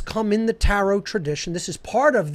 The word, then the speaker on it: tarot: and that is the tarot itself okay it's a phonetic equivalent t-a-r-o the last t is silent then a-r-o-t arot i